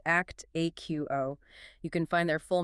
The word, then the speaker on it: Actiqo: That is spelled ACC Tiqo pronounced act aqo.